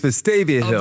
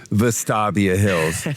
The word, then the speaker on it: Vestavia Hills: It's Vestavia Hills.